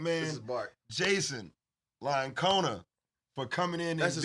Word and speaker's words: La Iocona: Can you pronounce it for us? No, I have a hard time. I'm kidding. La Iocona.